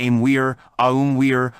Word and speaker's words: Weor: Word or verb is within weir, which is pronounced veer, so the W is the V sound.